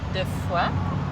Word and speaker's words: Defoy: And this is the beautiful Tina Defoy. Yes. Because that's how you say it, right? Defoy. In English, we would say Defoy, and Defoy is beautiful also because it means of faith.